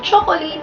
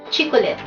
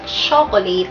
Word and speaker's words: chocolate: Ang bigas niya sa salitang chocolate ay chicolet. Siguro familiar din kayo sa commercial na yon. Pero ang tama pong pronunciation sa salitang chocolate na tinatawag natin ay pakinggan niyo ako.